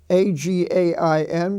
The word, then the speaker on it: again: Reign family we have a-g-a-i-n which is pronounced again and a g a i